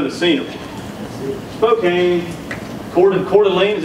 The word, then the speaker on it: Coeur d'Alene: you guys know the singer Spokane Coeur de coeur d'alene is how you say that blew me out